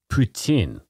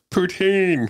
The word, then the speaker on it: poutine: it's regional pronunciation the the Quebec French pronun pronun pronunciation of poutin yeah and the the rest of it is ptin just the rest of us are like poutine poutin yeah it's regional